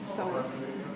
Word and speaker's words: psoas: Psoas. It's PSOA. Oh, okay, just so I can see it in my The head. P is silent, just like in pool.